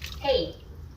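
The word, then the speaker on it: 嘿: Hey. Hey. If it sounds familiar, it's because it's just like the English hey, but make sure to say it with the right Mandarin tone.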